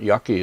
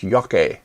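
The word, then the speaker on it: 焼け: Rokusho is green pigment, yaki is burning, green pigment burning. I should correct my mispronunciation. It's yake, not yaki.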